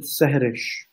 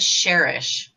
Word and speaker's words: Sehrish: You pronounce it Sehrish. Yeah? Sehrish. Okay, Rimat said Sherish. No. So, Sehrish. Please forgive me. Sehrish, two words, two syllables. Sehrish. Yeah, Rish, like Rish, and Seh.